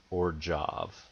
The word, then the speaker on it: Orzhov: the Pro Tour Gate Crash coverage, you would know that it's actually pronounced Orjov.